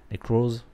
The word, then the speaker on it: Necros: Et comme le 76 dans la vidéo hier que j'ai fait sur Necros, parce qu'on m'a dit il faut prononcer le S. Necros.